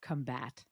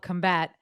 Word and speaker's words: combat: I guess I could say to help combat emphasis on the different syllable there to help combat self criticism, stress, overwhelm, and persistent aches and pains.